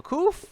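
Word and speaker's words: qof: that's uh the proof so koof um is pronounced either as a king kit a short k kind of like a like a like like in king or like or like a yeah or kite sort of like a king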